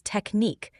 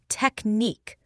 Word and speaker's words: technique: The stress is on the second syllable. Try emphasizing the neek part.